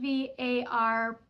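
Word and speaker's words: Hvar: out to the islands VAR which is spelled HV v a r but pronounced without the H so just pronounced VAR is a wonderful day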